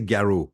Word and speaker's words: Garraud: They say Garraud because in Russia, the sound O is a common sound, and which is not the case in US.